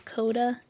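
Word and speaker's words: Codagh: talk about, General Melgrins, the pronunciation in the audiobook is Coda, and I'm just like, Oh. yeah, my little Coda would have been a black dragon. Oh. Spelled differently, more like the musical note Coda, or the musical phrase Coda.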